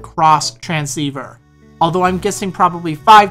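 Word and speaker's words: Xtransceiver: to give you your cross transceiver now the item is spelled out X transceiver but don't be a noob because it's pronounced cross transceiver although I'm guessing probably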